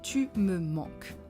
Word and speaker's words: tu me manques: Now, let's decompose the sounds together. Tu, me, man, que.